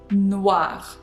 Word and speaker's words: noir: The same for noir, noir, noir. We've got E at the end for feminine words, but it doesn't change pronunciation. Noir. We've got W sound here. W. W. It's like wagon.